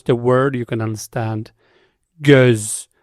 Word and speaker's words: göz: It's not O, it's Now, if I pronounce the word, you can understand. Göz. It's not goz, it's göz.